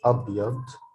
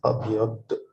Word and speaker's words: أبيض: By the way, the da is heavier than the letter d, like del, d. It's أبيض. So that's why people sometimes write it like this, like dh to emphasize that the letter is pronounced like أبيض.